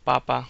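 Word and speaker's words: papá: if you say um Papa that means potato if you say papa with an accent on the last a that means father um I used this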